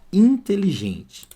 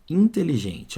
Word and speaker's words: inteligente: ficar inteligente repara que esse n aqui ó tá nasalizando o som do I Então aqui é dígrafo vocálico mas na palavra de baixo e até o som muda porque lá em cima tanto é que tá nasalizando eu falo com o nariz ó inteligente repara agora